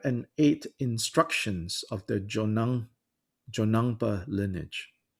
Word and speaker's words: Jonang: from across traditions what is jonongpa can you spell that word j-o-n-a-n-g jo nang is a lineage of tibetan buddhism